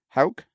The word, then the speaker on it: Hauk: Hauk. Hauk.